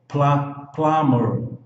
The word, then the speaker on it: plumber: No bombeiro hidráulico, o B aqui é mudo. Então, olha, plumber, plumber.